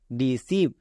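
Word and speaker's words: deceive: আর সবাই জানো শেষে থাকলে তার উচ্চারণ হয় না, তাহলে RECEIVE, রিসিভ। নেক্সট ডিসিভ, একই রকমভাবে ডিসিভ, EI আছে, EI এর জন্য দীর্ঘিকার।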